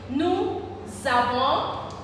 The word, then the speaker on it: nous avons: Nous avons. This changes to Z because of the liaison, okay?